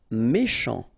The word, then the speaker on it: méchant: Méchant. Final T not pronounced. Then C-H, ch, chant, méchant.